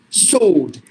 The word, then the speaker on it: sword: the word I've given a word here word sword now here in this word the W is also silent this R is silent because there's a rule because the r